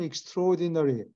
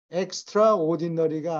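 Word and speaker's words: extraordinary: 무엇을 구경하기를 기대했다 쌈 익스트루디너리 오디너리는 보통이가 엑스트라 오디너리가 아니고 익스트로디너리라고 발음해요 특별한 manifestation 전시가 어떤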